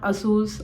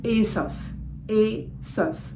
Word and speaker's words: ASOS: Levi's Lee wise lastly it is not Asus or Asus it is Asos Asus I hope you